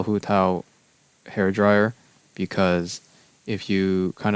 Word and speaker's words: Hu Tao: And then we have Hu Tao, which in Cantonese is Wu Tou, Wu Tou. The Japanese is Hu Tao, Hu Tao.